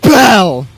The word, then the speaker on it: Bell: ] for you see the name is Bell it rhymes with hell oh God and you